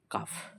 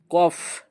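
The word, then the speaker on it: كاف: এই লেটারটাকে বলা হয় কাফ। এই লেটারটার নাম কি? সেটাকে বলা হয় কাফ। এটাকে আমরা বলব কাফ। তার আগের লেটারের থেকে একটু উচ্চারণী পার্থক্য। এটাকে কি বললাম? কফ। হ্যা। এটাকে বললাম কফ।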